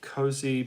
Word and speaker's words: Cozy: Rainbow Rising was Cozy Powell's debut for Rainbow. Cozy, oh, Springy. Hey, Springy. Cozy is pronounced cozy, like tea cozy. Cozy Powell.